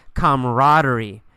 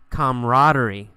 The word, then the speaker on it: camaraderie: the word camaraderie camaraderie you really don't pronounce that second a we usually say camaraderie camaraderie camaraderie is a feeling